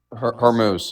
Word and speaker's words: Hormuz: How do you pronounce it? Hormuz, yes.